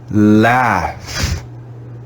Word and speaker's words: laugh: word it's very irregular we treat the u as if it's silent and we read the gh as in f we read this word as laugh laughs in this word